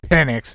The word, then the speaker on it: Penix: step aside worried that penix will outperform him and usurp his job is a man whose name is actually pronounced penic so bad in practice